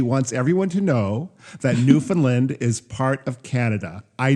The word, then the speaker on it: Newfoundland: To piggyback on that, our Canadian listeners will probably before you write, I know, but a lot of Americans don't know, it's pronounced Newfoundland.